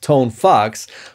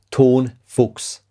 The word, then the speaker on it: Tonefox: uh the brand is called tone fox which is a sub brand of ton fox it's it's a german word okay don't mess up the pronunciation thank you tonfox is